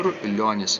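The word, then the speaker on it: Čiurlionis: CH uh how do you say his name chonus chonus okay chonus yes um the two fugues that we that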